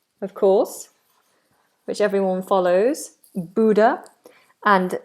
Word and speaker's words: Buddha: Buddha, and it's pronounced B-O-O kind of sound, Buddha, rather than Buddha.